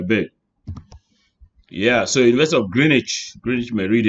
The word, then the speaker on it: Greenwich: No, you don't pronounce this as Greenwich, which no day, wizard no day. It's Greenwich. The Greenwich, Greenwich Meridian. So as if you're not pronouncing the W, Greenwich.